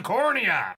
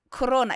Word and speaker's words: Corona: it plunged into the cornea Korona cornea know what I mean it's Corona it's pronounced Corona you know like to think